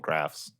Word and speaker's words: Graf: Yeah, because on Innistrad, graves are called graphs. Oh, That's like corrupted graphstone is like the stone at the end of a grave in Innistrad. so they just pronounce it graph.